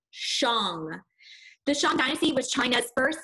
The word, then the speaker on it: Shang: you see is the song dynasty now that's pronounced wrong not Shang Xiang as if you're hitting a gong Xiang deshaun dynasty was China's